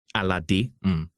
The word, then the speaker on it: Alade: Alade is a Yoruba name. Okay, I think that's all. But Alade is how the name is pronounced. Alade.